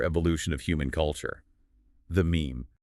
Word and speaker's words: meme: And the replicator itself, the unit of imitation, is termed the meme. Yes, coined in the source material, rhymes with cream.